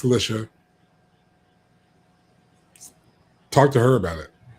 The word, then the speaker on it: Alicia: Yes, that's how she pronounces it. Don't come at me. It's not Alicia. It's Alicia.